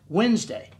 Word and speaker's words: Wednesday: letters in the middle like Wednesday the silent D in the middle of the stupid word I mean I don't